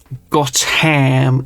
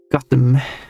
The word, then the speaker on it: Gotham: yeah, that's that sounds like a very British pronunciation. It's not Buckingham, it's Buckingham and stuff like that. It's not Gotham is Gotham. No, it's Gotham, right?